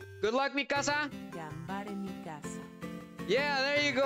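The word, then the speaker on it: がんばれ: Gambare Mikasa.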